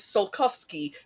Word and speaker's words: Tsiolkovsky: I love that the name of the crater is Tsiolkovsky. He pronounces it Tchaikovsky, and the subtitles they have are completely different a third way.